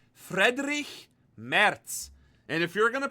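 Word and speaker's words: Friedrich Merz: It's not Frederick Mertz, it's Frederick Merz.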